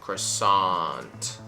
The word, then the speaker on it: croissant: or croissant right so uh you want to make sure it's a cra again a very lazy sound and then after the s you want to go into a rounded eye situation croissant and then nt croissant it's the little you